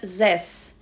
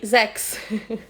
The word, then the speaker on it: zes: O número 6, em holandês, se pronuncia zes. Em inglês, é six. Eu misturei os dois e falei zex. E aí ele falou, não, 6 é zes. Zex é outra coisa.